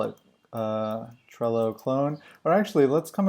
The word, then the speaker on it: Trello: we'll call it uh Trello clone or actually let's come up with like a unique name how about like something that rhymes with Trello like uh I just realized that trell rhymes with hello and I'm wondering if